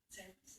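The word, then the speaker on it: Cerberus: Cerebus, is that how to say it?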